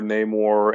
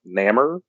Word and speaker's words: Namor: fact if you noticed they even pronounced his name like three different ways in the movie Yeah the more Namor and what was the third one uh nammer I care I can't